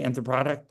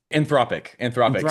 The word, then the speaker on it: Anthropic: Yeah, I don't know much about, how do you say anthropotic? Anthropic.